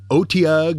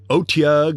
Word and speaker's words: Otyugh: with it the AAG which can incidentally be pronounced as otag or otag or AAG the AAG is a